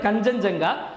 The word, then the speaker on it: கஞ்சன்ஜங்கா: ஸோ கஞ்சன்ஜங்கா, இது pronounce பண்ணுறது கஞ்சன்ஜங்கா.